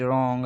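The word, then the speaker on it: wrong: अगर ये आर से पहले डब्ल्यू आता है तो डब्ल्यू क्या है हमारा, हमेशा साइलेंट होगा। यहाँ पे मैंने 4-5 लफ्ज़ लिखे हैं जैसे कि राइट, रॉन्ग, रेस्ट, स्टेप। अब ये सारे जो हैं इसमें डब्ल्यू जो है वो साइलेंट है। आर से पहले आ रहा है तो डब्ल्यू हमारा साइलेंट है।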